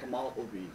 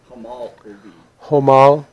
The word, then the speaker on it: Homolovi: Homolovi. Homolovi? Homolovi.